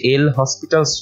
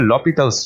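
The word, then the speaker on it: L'Hôpital: নিয়মটা হচ্ছে এটার উচ্চ সেখানে আমরা শব্দটা লিখেছি এল হসপিটালস রুল বাট এটা হচ্ছে এটার সঠিক উচ্চারণ হবে লপিতালস রুল ঠিক আছে এখন এই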